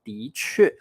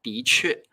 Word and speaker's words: 的确: 今天我们来学习 2 个重要的单词，第一个叫的确，的确。